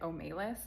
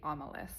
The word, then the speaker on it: Omelas: Also, side note, when I read this for school, we were pronouncing it Omelas, but looking online, it seems to be Omelas. Correct me if I'm wrong.